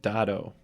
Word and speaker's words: dado: Miter, kerf, burl, and dado. Yeah, that's pronounced dado. Dado. Thank you, Jeff.